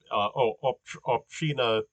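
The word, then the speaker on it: Община: Um, that's st in Bulgarian. It's pronounced differently in Russian, and I was pronouncing it more like the Russian Obstina Sliven.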